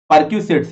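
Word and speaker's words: perquisites: अब एक वर्ड यहाँ पे लिखा हुआ है प्रेक्यूसिट्स, याद रखिएगा, परक्यूसिट्स, यस परक्यूसिट्स इसको बोलते हैं, स्पेलिंग याद रखिएगा।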